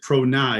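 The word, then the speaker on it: ProNAi: ceo co-founder of i i'll pronounce it pro nye is that correct that's correct which is also a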